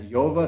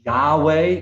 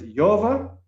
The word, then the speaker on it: Yahweh: So you have YH, the WH, Yahweh. That's all mispronounced. Every culture has their own way of saying it, but it's Yova, and it is, if